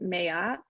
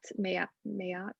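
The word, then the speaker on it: Maat: also talked about uh this egyptian goddess named mayat miat it's spelled m-a-a-t um but she has like 42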